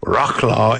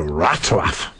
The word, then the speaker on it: Wrocław: Well, everybody is telling me Wroclaw is pronounced Wrocław.